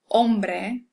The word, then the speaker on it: hombre: So when you see an H, you can pretty much ignore it as far as pronunciation is concerned. So, hola, hombre, almohada, which means man, hombre, and almohada is pillow.